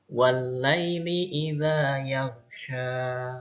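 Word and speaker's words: وَاللَّيْلِ إِذَا يَغْشَىٰ: yang soleh soleha perhatikan ayat satu ini cara bacanya yaitu wallaili idza yaghsya Oh ya wallaili idza yaghsya walk ini ada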